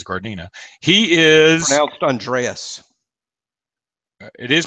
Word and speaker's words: Gardena: Tate is he from gardenia California or Gardena I don't know his garden or gardenia but there's no I in there so I guess is guard Nina he is Andreas it